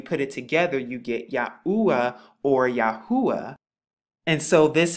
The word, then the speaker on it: Yahuwah: You get the y, the ah, the oo sound, and the ah, and when you put it together, you get Yahoo-ah or Yahuwah when you put it together.